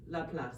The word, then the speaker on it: Laplace: Do you pronounce the C there? Laplace? Pierre-Simon de Laplace. That's it, right.